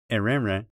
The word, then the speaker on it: erenre: Unlike the English word wren, each wren in erenre ends with a nasal vowel, not an N sound.